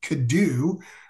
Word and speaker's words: Cadeau: so your thoughts on Elliott could do I believe that is the proper pronunciation popping for North Carolina